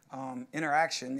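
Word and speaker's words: Interxion: verge edge Verve emphasis interaction even though it's spelled int ER x io n and exhibit sponsors block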